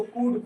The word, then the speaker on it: could: कुल्ड नहीं पढ़ेंगे। इसको कुड पढ़ेंगे।